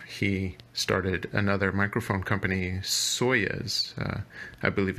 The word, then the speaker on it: Soyuz: audio space uh he started another microphone company soyuz i believe it's spelled s-o-y-u-z some very high-end microphones that recording